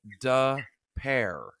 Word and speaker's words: Des Peres: husband heard Dana pronounce Des Peres d-e-s-p-e-r-e-s she said so the town is pronounced like da pair like d-u-h and then pair p e a r